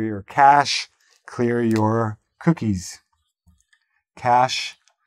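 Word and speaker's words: cache: cash clear your cookies cash spelled like this but pronounced like the money cash okay make sure you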